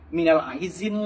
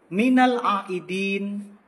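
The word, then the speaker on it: مِنَ الْعَائِدِينَ: Ada juga yang bilang minal aizin lah, wal faizin lah, al faizin. Tolong diperbaiki lagi karena bahasa Arab itu kalau beda pengucapan, beda makna. Yang benar itu minal aidin, huruf ain, huruf dal, minal aidin wal faizin.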